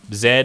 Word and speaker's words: Z: Zed is the objectively correct way to say it. And if you say Z, like, I'll still know what you mean, but I'll also know in my head, like, you're wrong.